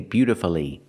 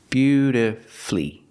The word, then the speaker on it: beautifully: played the guitar beautifully I cannot say beautifully beautifully four syllables is not correct we pronounce it with three syllables beautifully beautifully put the stress on your first and third syllable beautifully flee flee is the final syllable flee beautifully and of